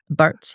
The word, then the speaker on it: Bartz: Bartz, yeah.